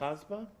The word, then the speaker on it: COSBA: Foreman, you want to present to us on, are we saying COSBA? Is that how we're COSBA, pronouncing? yes. COSBA? COSBA is the Consortium of State School Board Associations.